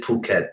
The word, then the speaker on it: Phuket: to hear you guys pronounce it properly it is Phuket yeah yeah I really